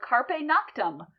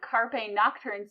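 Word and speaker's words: Carpe noctem: in a short called Carpe noctum which is the proper way to say seiz the night but if you're a college freshman in a band Carpe nocturn sounds much cooler that band's been disbanded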